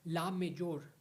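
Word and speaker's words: la mejor: डी डी नॉट T best best is called ला मेजोर okay best best is called ला मेजोर male female same okay लाम मेजोर the spelling of ला मेजोर इज़ एल ए then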